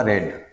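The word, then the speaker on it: read: उच्चारण इसका क्या होगा? रेड।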